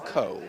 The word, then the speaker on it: Cole: Michael Cole, or Cool, it looks like Cool, but it's pronounced Cole, I'm told.